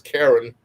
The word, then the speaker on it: Karan: She pronounced her as Karen, but Karen Wheeler. But it was spelled Karan from one of my favorite groups, Loose Ends.